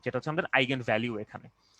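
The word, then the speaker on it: eigenvalue: ওকে, এটাকে আমরা বলছি আইজেন ফাংশন, যদি এটা অরিজিনাল উচ্চারণ হচ্ছে আইগেন, sorry আইগেন function, আইগেন ভ্যালু, আইগেন ভ্যালু বা আইজেন ভ্যালু। যদিও এটার অরিজিনাল উচ্চারণ হচ্ছে আইগেন ভ্যালু, বাট আমাদের বইয়ের মধ্যে এটাকে লেখা হয় আইজেন ভ্যালু হিসাবে।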